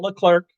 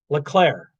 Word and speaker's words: Leclerc: to listen charles leclerc you don't say the see at the end it's not leclerc leclaire charlo leclair eighth ferrari